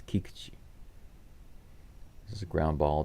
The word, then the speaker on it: Kikuchi: you um you hear a lot of people pronounce his name uh Kikuchi Kikuchi is but is the pronunciation is not Kikuchi it's Kikuchi this is a ground ball to Jeremy pñ